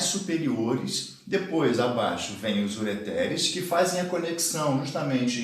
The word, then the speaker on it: ureter: A pronúncia é essa, ó, não tem nenhum acento, mas ó, ureter no singular, ureteres no plural.